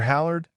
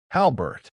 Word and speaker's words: Halbert: Howard?" she asked, mispronouncing the name like it was foreign. Danielle corrected her. gently. Halbert.